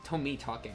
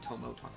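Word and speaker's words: Tomitake: I said his name wrong. Tomiake, not Tommoake.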